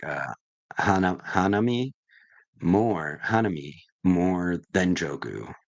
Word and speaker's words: Hanami: Joo and H H hamy Hami Hanami Hanami Hanami that's how you say it yes Jimmy Timmy